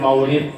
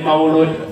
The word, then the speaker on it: Maulid: Rasulullah Sallallahu Alaihi Wasallam Mau bacanya Maulid mangga bade Maulud mangga Ya hanya saja ada sedikit perbedaan tapi intinya sama sama beliau Apa itu Maulid